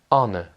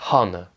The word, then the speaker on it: honor: donc l'honneur en anglais, ça se dit honor. Vous voyez, là on ne prononce pas le H, on ne dit pas honor, on dit on.